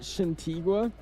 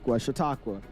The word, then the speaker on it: Chautauqua: No way you said Chatigua. Chatigua. Chatigua. Chautauqua. It's crazy how much we get. Like, I mispronounce one thing, we just talk about it for 10 minutes too.